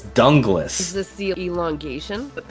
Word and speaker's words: Dunglas: dunglas Hume and like I thought it was Douglas for a long time but no it's dunglas is this the elongation